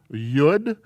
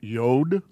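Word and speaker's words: יוד: letter here is a this consonant is a yud my pronunciation others pronounce it yod and it is a y sound the word yes rael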